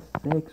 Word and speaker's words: sexo: Perceba, vamos pegar aqui a palavra sexo, por exemplo.